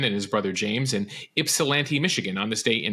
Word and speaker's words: Ypsilanti: his brother James in Ypsilanti, Michigan on this day in 1960. A nice pronouncer there where you knew the Y was silent, Moshe.